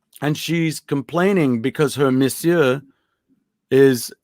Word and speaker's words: monsieur: But do you know how to So spell it? no, I do not. Yes. No, I would say MISSEUR. MON. Oh, that's right. It's like monsieur, Monsieur.